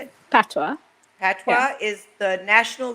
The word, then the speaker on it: patois: Patois.